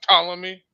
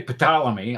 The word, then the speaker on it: Ptolemy: And Wait, he isn't it Ptolemy? No, Ptolemy. This No. P is silent.